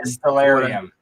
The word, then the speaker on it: Distillarium: there's a lot of things that end in area. Distillarium. Yeah. Me putting your scientific twist on it makes it so I pronounce it correctly.